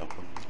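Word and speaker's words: 훗일: 그럴 때는 표준 발음이 혼일이에요, 혼일. 그럴 때는 혼일입니다. 이럴 때는 뭐예요? 니은 첨가. 두 번 들어가도 니은 첨가입니다. 니은 첨가되고 앞말이 몸으로 끝났으니까 이럴 때는 시옷이 붙는다는 말이에요.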